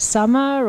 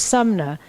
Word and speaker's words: Suna: sna and so so people say oh is it summer or they always say it wrong and she says my name's Suna MN just like mother nature and people just remember